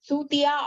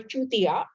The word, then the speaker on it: Chutiya: This dynasty's name is pronounced as Sutiya or Chutiya.